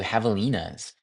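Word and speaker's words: javelinas: Um, and on that roadwalk, I ran for the first time into Havalas. And that's spelled with a J. So, it's J A V E L I N A S.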